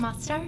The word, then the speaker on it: Mostar: I'm going to mispronounce stuff. Mostar?